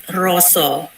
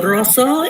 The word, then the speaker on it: rasa: The deep feeling, we write in Bahasa Indonesia is rasa, but in Javanese language, we pronounce it with roso. So roso is a deep feeling of the batik maker.